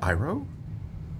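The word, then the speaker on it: Iroh: IO wrong no it's 100% ug they say iro in the show it's ug are you sure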